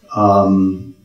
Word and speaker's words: Uwe: UI it's a mystery U is how you ought to pronounce it if you honor the German language which where it comes